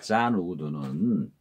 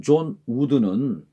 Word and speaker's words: 존 우든: 존 우든, 잔이죠. 영어식으로 발음하면 잔 우든은, 한국식으로는 존 우든은 남을 탓하기 전까지는 누구도 패배자가 아니다 라는 의미심장한 말을 했습니다.